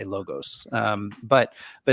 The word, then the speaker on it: logos: logos and and so I I pronounce it logos this is a it's the European pronunciation of uh um where I think my some of my American compatriots might say logus or something I I I've never